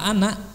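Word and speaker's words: أنا: Ana itu ada alifnya ya. Tapi semua kata ana dalam Quran, dalam bicara sehari-hari ulah dibaca panjang. Ana ulah. Ana cina 2 harokat opat, jangan. Pendek, ana.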